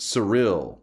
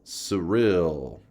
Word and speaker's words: Cyril: It's pronounced Cyril. Cyril.